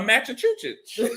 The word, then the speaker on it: Massachusetts: A Massachusetts. It's like sausage. People mess that up.